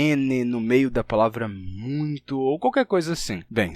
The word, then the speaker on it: muito: O que aconteceu é que o M da palavra muito transferiu a sua nasalidade para o ditongo ui, transformando muito em muito.